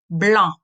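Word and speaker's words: blanc: white the color is blah blah so here the letter C is silent and the connection usually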